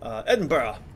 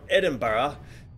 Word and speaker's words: Edinburgh: way I say that Americans always tried to delight say Edinburgh a bit weird yeah because you guys laugh at us when we say it wrong then we overstated so that you can't